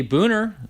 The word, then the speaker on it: Buhner: segi for the Orioles Jay Boehner there you go or Buhner I think it's pronounced Donald calls him Jay